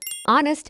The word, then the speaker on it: honest: My brother is honest man. The word honest begins with a silent H, meaning the first sound is a vowel sound O.